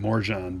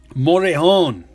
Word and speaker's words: Morejon: I've been saying Morjan, but it's not. It's like... I think the J is silent. There's a silent one in here. There's a silent letter in there. I think the J might be silent.